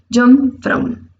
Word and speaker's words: John Frum: Se pronuncia la U como si fuera una O. John Frum.